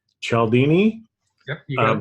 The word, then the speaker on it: Cialdini: And so I became aware of, Bob Chatt, I always mispronounce his name, Cialdini.